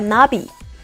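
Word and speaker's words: 나비: p pinoo means soap but if Phieup was in the middle sounds B for example nabi Nieun has combined with a naa Phieup has combined with i bi naabi i pronounce B because it is in the middle i don't say naapi i say naabi or i don't say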